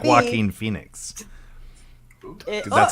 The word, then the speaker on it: Joaquin: Joaquin Phoenix? It- 'Cause that's how his no, name looks like no. Jockin.